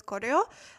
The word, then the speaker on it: Goryeo: So it sounds very, very similar to Korea, Goryeo, Korea.